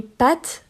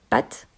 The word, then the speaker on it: pâte: Ils disent pâte. OK, le A est court. Alors que les pâtes qu'on mange, ils allongent un petit peu le A. Les pâtes.